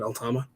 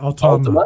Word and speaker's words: Altama: Altama. Yeah. Altama.